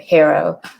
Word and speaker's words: HARO: So I say that knowing that Peter Shankman, the founder of HARO, pronounces it HARO, but quite frankly, most of our inquiries come